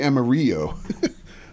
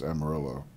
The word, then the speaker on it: Amarillo: and Emma Emma Amarillo I started to say Amarillo the Spanish pronunciation but I think technically it's Amarillo uh yeah plenty of